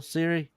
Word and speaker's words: Cere: Siri, like Apple Siri? No, Cere. I think her name it's pronounced Siri.